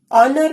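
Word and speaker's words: honour: ऑनर में भी H silent है, इनको आर्टिकल एन लगेगा।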